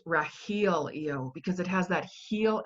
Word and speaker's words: Rahelio: drew me to you before was how it's pronounced Rahil yo because it has that heal energy in it